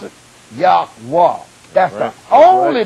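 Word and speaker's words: Yahweh: salvation y h w h proper way to pronounce it yahwa that's the only name going to get you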